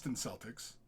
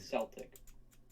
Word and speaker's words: Celtic: I mean, according to Google, in 1926 it was Celtic. In 1996, they said Celtic was the preferred pronunciation.